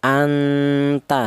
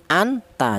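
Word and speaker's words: أنت: Nun mati ini cara bacanya di disamarkan atau dibaca samar anta seperti itu. Tidak boleh nun mati ini dibaca jelas atau izhar anta tidak boleh karena huruf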